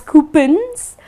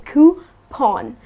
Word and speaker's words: coupon: you is coupon now people tend to pronounce it as coupons but it's not coupons it's coupons ok so it's something like this coupon so it drives with lawn or Sean okay so it's coo pawn while coupons are these